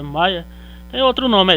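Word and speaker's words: Meyer: de sobrenome Mayer, né, a pronúncia é Mayer, tem outro nome, é Julius Lothar Mayer, e o russo Dmitry Mendeleev, certo?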